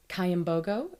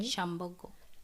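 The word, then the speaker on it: Kyambogo: You graduated in 2014 from Cayambogo. Am I pronouncing that correctly? Chamogo.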